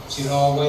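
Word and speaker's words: Cheiraoba: And incidentally, our Samsar Padwa, Gudi Padwa falls on the same day New Year of Shiraoba. Pronunciation. Shiraoba is correct pronunciation.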